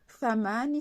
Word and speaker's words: thamani: TH se prononce feu, comme le feu des Espagnols. Thamani, c'est le tarif, le prix.